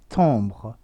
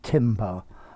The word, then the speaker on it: timbre: one's got an er i have heard the one ending in re also pronounced tamra because it comes from french but um i would stick to the timber um pronunciation for the ari i'd use timber for both of them okay so they're both